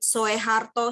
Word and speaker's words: Soeharto: Bahkan Soeharto, Soekarno itu kan masih dengan owe, tapi dibacanya kan Soekarno dan Soeharto.